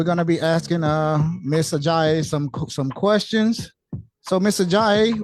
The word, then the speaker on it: Ajayi: We are now joined with Miss Ajayi. I think I pronounced that correct, did I? Yes, you did. Okay, Miss Ajayi.